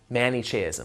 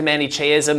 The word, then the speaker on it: Manichaeism: created by the Silk Roads was mani chasm manichaeism let me spell it for you MA and I CH AE